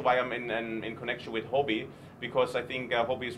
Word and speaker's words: Huobi: In Chinese, Huobi, Huo means popular, also means fire.